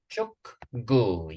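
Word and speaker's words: 축구: Chukgu, exactly.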